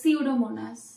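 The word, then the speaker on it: Pseudomonas: টা থাকে উচ্চারণটা হয় না নরমালি এন থেকে উচ্চারণটা হয় তো সিউডোমোনাস হুম ঠিক আছে তো এস থেকে হয় নিটের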